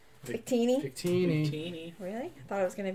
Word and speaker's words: Victini: Victini.